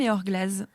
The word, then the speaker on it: Eor Glas: un Z ouais et du coup on dit AOR glace ou AOR Glaz ça se prononce quand même EOR gllaz ouais on avait beaucoup